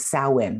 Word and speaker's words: Samhain: high holy day that's called samhain and it's spelt s-a-m-h-a-i-n which when you look at it you'd never think that was salwyn right but salwin is